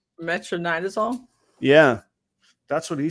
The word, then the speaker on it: metronidazole: How do you pronounce that? That Beast Morphs just said? Metronidazole?